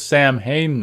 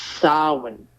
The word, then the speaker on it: Samhain: on the chalkboard or whatever but what what's samhain know the oh the lord of the unseen hate actually mispronounce it it's actually pronounced sarwin which is uh yeah like i'm pretty sure